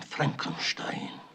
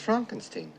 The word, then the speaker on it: Frankenstein: I have traveled 5,000 miles to bring you the will of your great-grandfather, Baron Beaufort von Frankenstein.